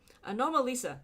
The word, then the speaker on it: Anomalisa: Anomalisa.